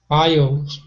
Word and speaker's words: aisle: A and I pronounce different. A, top sales, A, aisles. Which is more The open? letter A don't pronounce an aisle. Yeah, aisle is more open, and we don't pronounce the A very much there. More about the I.